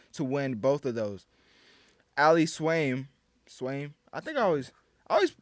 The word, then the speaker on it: Swain: Ali Swain, I think I always mispronounce all these names. Ali Swain is not Swain, really, but you call it whatever you want.